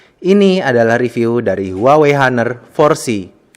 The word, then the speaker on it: Honor: saat ini berjalan dengan merek hunner bacanya huner Ya Sob bukan honor Enggak cuman guru aja